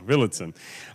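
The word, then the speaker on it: Villadsen: No, I know it's spelled, but Villedsen. Yeah. There we go, Villedsen.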